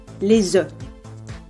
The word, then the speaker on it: os: L'os, bone, les œufs, where you don't pronounce the S.